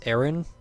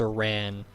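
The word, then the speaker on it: Aran: whatever according to official stuff samus name is pronounced samus aaron but i feel like aaron is too earthy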